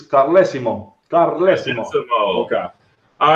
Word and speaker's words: Carlesimo: know us American yeah well it's from Italian region so it's Colosimo god bless you okay